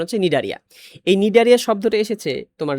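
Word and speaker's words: Cnidaria: উচ্চ থাকে গোপন থাকে উচ্চারণ হয় না সি উচ্চারণ হচ্ছে নিডারিয়া এই নিডারিয়া শব্দটা এসেছে তোমার ল্যাটিন মানে গ্রিক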